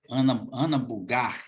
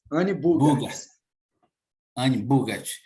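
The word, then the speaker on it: Anne Bogart: Ana Bugart, é assim que é a pronúncia? Anne Bugart.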